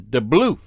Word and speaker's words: DeBlieux: of Vicki's last name, I did research and found that depending on the family and regions, it's pronounced several different ways. I got W, W, and DeBlieux. For now, I'll just use DeBlieux since that one appeared to be the most common.